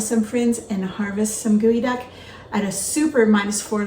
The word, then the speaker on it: geoduck: people in the world it's spelled g-e-o duck it's not Geo duck it's pronounced gooey duck and it is a